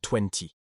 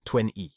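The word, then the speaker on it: twenty: Et 20, attention, le T final est souvent peu prononcé en anglais américain, sonnant plus comme 20 ou même 20.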